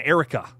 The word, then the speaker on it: Erica: hanging out with us sorry I just pronounced your name horribly wrong Erica got to get the a the the r the air in Erica thanks for being here